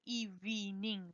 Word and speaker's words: evening: So it's not evening. There is no ani here in the middle, okay? It's evening. 2 syllables.